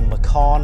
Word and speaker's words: Macan: If you can subscribe to the YouTube channel, I'll be doing more videos on this Porsche Macan, or Macan as it's supposed to be pronounced.